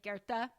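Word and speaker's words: Goethe: favorite quotes it's by I know it's spelled gu but it's like Gerta goe how do you spell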